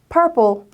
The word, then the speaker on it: purple: P 소리 난다고 생각하시고 마지막에 오는 이는 소리가 나지 않아요. 합쳐지면 purple, 보라색을 이야기합니다.